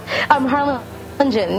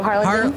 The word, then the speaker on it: Harlingen: Harlingen. You could just pronounce, the G is Jen, so Harlingen. Harlingen.